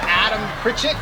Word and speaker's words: Adam Pritchett: We also have Adam Pritchett over here. What's going on? Did I pronounce that right?